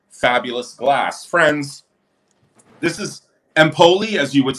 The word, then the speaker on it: Empoli: This is empoli as you would say. Ampoli. You really pronounce ampoli.